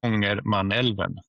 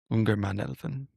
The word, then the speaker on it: Ångermanälven: In Swedish, Ångermanälven. Ångermanälven.